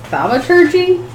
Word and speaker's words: thaumaturgy: I'm gonna use I'm gonna mispronounce this. Thaumaturgy?